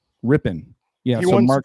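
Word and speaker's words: Rypien: How do you pronounce that last name, Rambo? Ripien? Rippin.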